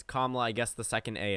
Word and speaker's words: Kamala: so i've heard a number of political pundits mispronounce her name it's not kamala it's kamala i guess the second a is silent i